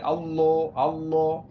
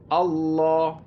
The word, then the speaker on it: আল্লাহ: একেবারে গোলাগাল করে ছেলে অনেকে আল্লাহ আল্লাহ ল ল এরকম পড়ে অনেকে আল্লাহ এরকম হবে না আল্লাহ আল্লাহ ল আল্লাহ ঠিক আছে আল্লাহ যখন বলবেন তখন কিন্তু ঠোঁট গোল হবে না যখন হু টা উচ্চারণ করবেন তখন ঠোঁটটা আবার বলবেন যেমন আল্লাহু আল্লাহু আল্লাহু আল্লাহ আল্লাহ খেয়াল করেন আল্লাহ আল্লাহ ল ল ল আমার ঠোঁট কিন্তু গোল হচ্ছে না এইভাবে লা লা যেন না হয় ঠিক আছে এইভাবে